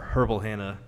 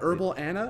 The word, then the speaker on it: Herbal Hannah: it correctly right yeah you got to pronounce H's because if not people are like herbal Anna and herbal and yeah that's not my name so purple Hannah Wellness